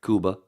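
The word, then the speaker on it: Cuba: the only crackers that says says it right Kuba that's that's the correct pronunciation right just like it's Iran and everybody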